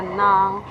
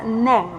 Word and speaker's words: ng: pronounce a Tagalog sentence, instead of pronouncing nang as NG or that nang, you sounds neng. Neng, because you have that E sweet sounds in most of your letters. And you also pronounce it or you read it as naga if the NG is already in a sentence or in a word.